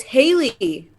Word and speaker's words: Haley: So Hallie, yes. it's Haley. Yeah, like the comment. Like Haley. Haley's comment.